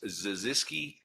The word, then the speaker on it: Zaziski: Sorry, pronounce the last name again. Sure, it's Zaziski, Z-A-Z-I-S-K-I.